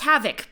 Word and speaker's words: HXVoc: I think it's pronounced Havoc, but...